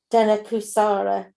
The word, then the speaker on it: Dhenukāsura: nice place but because of a great demon dana kusara is that how you say it yeah yeah